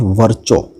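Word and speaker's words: Virchow: और साइंटिस्ट आते हैं, वर्चो, ठीक है, वर्चो या विर्चो इनका प्रोनाउंसिएशन है।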